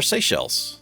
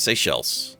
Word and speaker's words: Seychelles: Our Seychelles. Seychelles? I think it's Seychelles. That's how you pronounce it? Like seashells.